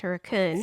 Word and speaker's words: Hurricane: in codin West Virginia which is close to hurriken uh which is spelled hurricane but pronounced hurun isn't it's about half it's about halfway between